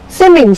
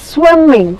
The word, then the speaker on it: swimming: any one same one now simming swimming what is swimming it is not seeming it is swimming swimming you are swimming